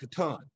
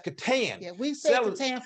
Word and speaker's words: Catan: Now they call it Catan. Yeah. But, you know, some people might think it's the other pronunciation, which is the wrong one, and that's Catan.